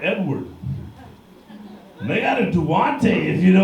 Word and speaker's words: Duante: My name's Duante. It's spelled all fucked up though.